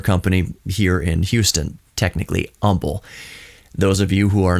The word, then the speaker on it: Humble: Kirk and doll and they can't pronounce Umble well actually they pronounce Umble correctly they pronounce it humble oh are you from